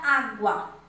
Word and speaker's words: água: E a palavra água, água eu pronuncio A-G-U-A. Então, nesse caso, não é dígrafo, porque eu pronuncio as duas letras.